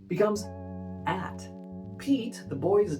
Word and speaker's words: Pete: So the long sound will be E because this E tells us it's long. Pete. Pete.